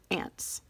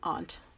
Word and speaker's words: aunt: It says ants. Now that's how we say it in the Midwest. Ants, it should be aunt or something like that if you're more northern or European.